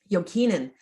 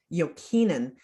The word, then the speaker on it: Jokinen: Jokinen, Marketta Jokinen. She is a former, you got to pronounce the last name correctly when you can, right?